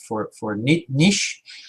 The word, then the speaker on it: niche: We see on the left-hand side the green area called the drive attention, and the second one, interest for niche, or niche as the Americans say.